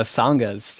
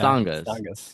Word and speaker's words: Sanghas: He's held leadership roles in, am I pronouncing this right? Sanghas? Oh, it's Sanghas. Yeah. Sanghas, yeah. Non-denominational pagan sanctuary, and has